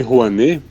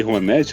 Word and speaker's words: Rouanet: Porque até onde eu pesquisei a lei Juanê ou Lei Juanet, não sei qual que é pronúncia, já que é uma palavra brasileira, né? É Juané. Rané. É ranê mesmo.